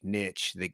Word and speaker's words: niche: I say niche. Yeah, but it's Why? niche. I don't know. I grew up saying niche. Niche is the proper French pronunciation. I grew up saying niche until I heard it on Shark Tank pronounced as niche. And I was like, that's really interesting. I'm going to start calling it niche.